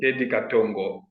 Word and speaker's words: Teddy Katongo: Teddy Katongo. Am I saying it correctly? Yeah, that's the correct one, Teddy Katongo.